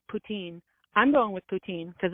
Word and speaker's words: poutine: your question uh we it's regional pronunciation the the Quebec French pronun pronun pronunciation of poutin yeah and the the rest of it is ptin just the rest of us are like poutine poutin yeah it's regional thing like I've had people